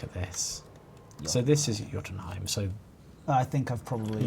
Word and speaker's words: Jotunheim: It's pronounced Jotunheim.